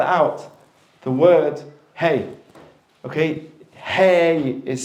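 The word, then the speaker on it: ה: it says in again it's the only letter in the Hebrew alphabet that is completely silent you do not use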